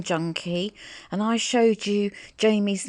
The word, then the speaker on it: Jayme: and i showed you jamie's name on screen i'm sure you would know that her name is pronounced jamie wouldn't you i'm sorry